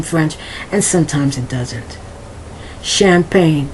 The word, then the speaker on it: champagne: Champagne. Not champagne. I can't even say it very well. Not champagne, as if it's with the CH. That CH has a more of an SH sound, so it's champagne.